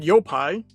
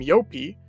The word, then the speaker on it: Yopai: I've already talked about Yopai, and apparently some of you pronounce him Yopi, which...